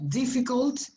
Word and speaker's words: difficult: Some problem, well, something that I have emphasized with this difficult, not difficult, it's not U, es una A cortita, difficult, bueno, pronunciation also, pronunciation is another, it's not pronunciation, pronunciation, okay?